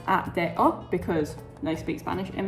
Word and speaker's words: ADO: So, ADO is pronounced at de because they speak Spanish in Mexico.